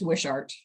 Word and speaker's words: Wishart: I want to uh no you were you were correct it's wishart oh we shot all right thank you